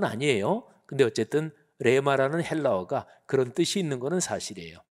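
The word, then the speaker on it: ῥῆμα: 내 말씀 이거는 헬라어로 레마라고 발음합니다 레마 근데 로고스나 레마나 하나님의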